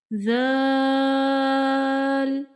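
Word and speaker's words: ذ: Zal, zal. If you read it with whistle sound or scratchy sound, it is wrong. Right pronunciation is zal, zal.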